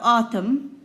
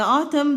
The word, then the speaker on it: autumn: holidays then we have autumn and then don't forget that the N is silent we don't say it so we just tried it and the autumn the leaves start falling